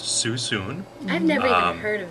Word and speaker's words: Suisun: wine from susun Valley s-u-i-s-u-n pronounced susun I've never even heard